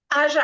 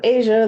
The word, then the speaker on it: Asia: Aja, I saw you had your hand up too, and I just want to confirm, am I pronouncing your name correctly? Just about. It's Asia, like the continent.